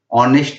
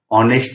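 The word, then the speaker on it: honest: Since the first alphabet H is silent, पहला alphabet H silent है तो उसका साउंड ओ के जैसे आता है। ऑनेस्ट मैन, ऑनरेबल, आर, इसके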